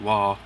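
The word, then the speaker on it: Roy: his last name is spelled ROI but it's pronounced wall it's it's just the brown tone patriotic don't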